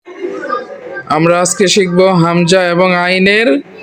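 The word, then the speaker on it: عين: আইন জবর আ। আমি বলা শেষ করার পরে বলবো সবাই। আইন জবর আ, আইন জবর আ, আ আ। আইনের উচ্চারণটা হবে গলার থেকে, হলকের মধ্যখান, হলকের মধ্যখান।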